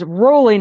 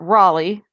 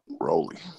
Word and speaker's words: Rollie: a pinch-hitter for Washington it's Rollie Nichols not Raleigh I look that one on the pronunciation guide Rollie yes rhymes with holy was how they raised it so he is